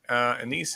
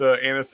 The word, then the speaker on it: anise: They do put anise and anise. I always say it wrong the first time, then I correct myself the second time.